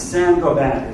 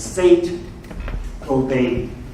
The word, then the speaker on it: Saint-Gobain: It's Saint-Gobain. It's Saint-Gobain. Gobain. That's the actual way to spell it, but the French don't talk the way they spell it. So it's Saint-Gobain.